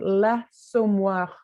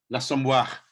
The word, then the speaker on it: L'Assommoir: L apostrophe, so L'Assommoir. L'Assommoir.